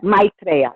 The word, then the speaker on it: Maitreya: Duras talks with me how would we pronounce it Maitreya or is it meet Raya know my reality my drea yeah Maitreya okay thank you alright